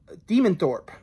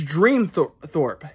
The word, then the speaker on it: Dreamthorp: go um demon thor demon thorpe or oh my god i'm saying the name wrong oh my god how come you guys didn't tell me it's dream thorpe dream thorpe i thought